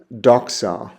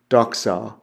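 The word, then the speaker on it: δόξα: The next word I have there is an xi, and it's pronounced with an XS sound, like fox, fox. And the Greek word I have there is doxa, doxa, which means glory.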